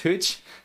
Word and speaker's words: Whocl: it's not too bad so it's pronounced Hooch okay beautiful sniper over